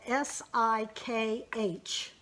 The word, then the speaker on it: Sikh: of us this when I say Sikh it is spelled sik H but it is pronounced Sikh Sikhism is a